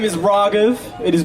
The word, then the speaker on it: Raaghav: yeah my name is RAV it is pronounced raw like Ramen and then gov like government it's one word people